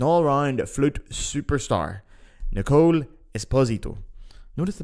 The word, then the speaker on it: Esposito: around flute Superstar Nicole Esposito notice the pronunciation there by the way it's Esposito not Esposito it's Italian not Spanish I mess up a